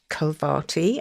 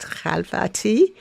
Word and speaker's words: Khalvati: realized, oh my god, I'm actually mispronouncing my own name. Um, and it's supposed to be pronounced khalvati.